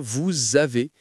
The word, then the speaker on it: vous avez: Normalement, le s de vous est mué, mais comme le mot suivant commence par une voyelle, on doit le prononcer et ça devient vous avez.